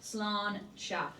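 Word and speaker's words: sláinte: We are going to say slancha as we try it. In Irish, this means cheers or to good health. It's pronounced slanchcha. So we'll say slanchcha and try it.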